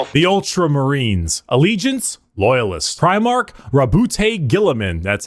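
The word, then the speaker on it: Guilliman: Primark Rabbout Gilaman.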